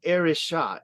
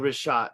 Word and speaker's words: Richat: pronunciation. I do Oh. understand Richat and it's they say Richat. So I've been saying Richat for a while now.